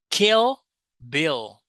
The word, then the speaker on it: Kill Bill: So, here we have the final L sound. In Brazilian Portuguese, we don't usually produce this sound. Usually, we say uh a U sound. For example, when you say pastel, Portugal, Emanuel, we say u. Yeah. Instead of the L in the end of the words, but in English, you say L kill, bill.